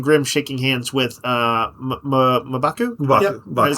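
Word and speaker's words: M'Baku: seeing uh Ben Grim shaking hands with uh Mabaku is how you say um uh since the Wakanda and the Black Panther debuted in Fantastic 4 comics.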